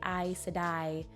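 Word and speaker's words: Aes Sedai: looks on a page i'm a weird sucker for silent letters in the way a word looks and the aes just it looks very nice and the way you say i sedai i don't know i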